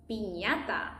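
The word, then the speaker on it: piñata: Pinata. And this is how we pronounce it.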